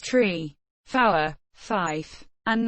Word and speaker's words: three: standard english being pronounced tree four five and niner the digit 3 is specified as tree so that it is not pronounced shri the long pronunciation of